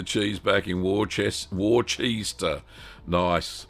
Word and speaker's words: Worcester: Um Dominic says putting the cheese back in war chest warster. Nice like that. Worcester that's how you pronounce it.